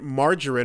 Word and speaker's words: margarine: And he's like, wait, why is it margarine? I'm like, because that's how it's always been said. It's the soft G.